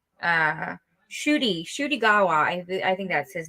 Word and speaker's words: Ncuti: I would not have gotten Shooty. I would have said Incuddy.